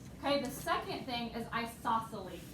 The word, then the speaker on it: isosceles: the second thing is isosceles and if you look at this it's you say it just like it's spelled i saw silly and isosceles triangle has